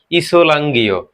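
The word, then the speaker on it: 이슬람교: কোরিয়ানে হচ্ছে ইসলাঙ্গীয়।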